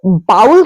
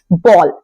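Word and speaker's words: bowl: ओ डब्लू एल कटोरा अब अगर आप इसको बाउल कहते हैं तो आई एम सॉरी ये गलत प्रोनंसिएशन है इसका करेक्ट प्रोनंसिएशन होता है बॉल अब कंफ्यूज मत होएगा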